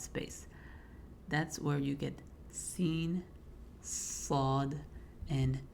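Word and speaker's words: سين: So seen is a lot like the letter S.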